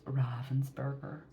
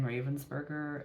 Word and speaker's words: Ravensburger: okay I know that I think the correct pronunciation is ravensberger um but it is forever etched in my brain Ravensburger and I I don't